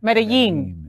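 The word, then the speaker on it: Medellín: You start saying it right. Medellin. Like it's got a J in it.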